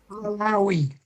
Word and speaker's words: Malawi: love, music, and mishaps in, how do you pronounce it, Jack? Malawi.